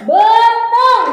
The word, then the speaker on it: beuteung: Ieu nah, ieu betung dibacanya betung tapi ditulisna aya eun.